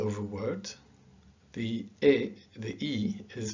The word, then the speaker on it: e: maria means and and it's pronounced e so this is el